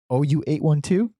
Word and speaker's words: OU812: OU812.